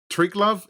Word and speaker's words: Triglav: I wanted to ask about Tri Love. Is that how you pronounce the the name of the studio?